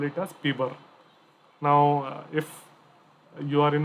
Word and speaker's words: PBRER: term pbr er then please remember to pronounce it as p bar okay now how about